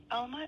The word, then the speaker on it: Alma: Alma, A-L-M-A. How do you say it again? Yeah, A-L-M-A. How do you pronounce that? Alma, A-L-M-A.